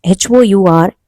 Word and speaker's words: hour: An hour ago. Although it sounds H-O-U-R, H is silent there.